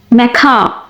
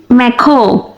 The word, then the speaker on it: macaw: Macaw. Macaw. Macaw. Macaw. দুটি উচ্চারণই correct. American অ্যাকসেন্টে বলা হয় ম্যাখা আর ব্রিটিশ অ্যাকসেন্টে বলা হয় ম্যাখো।